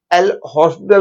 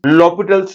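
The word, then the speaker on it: L'Hôpital: ध्यान रखो, कई लोग एल हॉस्पिटल बोलते हैं, वो करेक्ट प्रोनाउंसिएशन नहीं है। Correct pronunciation is लॉपिटल्स rule, H उसके अंदर साइलेंट होता है।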